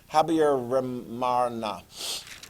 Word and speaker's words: Habyarimana: Okay, I can never get his full name pronounced correctly, but I do believe it is Habyarimana.